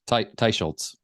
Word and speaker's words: Teicholz: Teicholz. Teicholz.